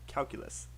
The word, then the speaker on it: calculus: the word calculus uh how many syllables for calculus perfect and i really liked how you counted out the syllables for anyone who's watching that really is the best thing to do if there's a long word if you break into syllables it becomes a lot easier you nailed it when you set it in syllables can you say it again